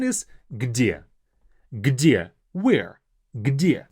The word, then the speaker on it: Где: Где. Even though it's a short word, it's not that easy to pronounce. Где. 2 very hard consonants. G, D, где.